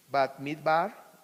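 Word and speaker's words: Bamidbar: Se los puse ahí en hebreo, cómo se pronuncia el Bereshit, que es Génesis, Shemot. Ahorita estamos ya en Shemot, Vaikra, Levítico, Bat Midbar, Números y Devarim, Deuteronomio.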